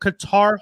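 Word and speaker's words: Katar: be foreign so much you mispronounced carter as qatar no no no no no no what he's a his name k-a-t-a-r space h-o-l qatar hall before he was in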